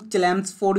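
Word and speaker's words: Chelmsford: ਸੀ India ਦੇ Lord ਕਲੈਮਸਫੋਰਡ, कई इन्हों चलैम्सफोर्ड भी कह देंगे ने, ठीक है जी। अपनी अपनी प्रोनाउंसिएशन है, स्पैलिंग देख लो बस, लॉर्ड क्लैम्सफोर्ड।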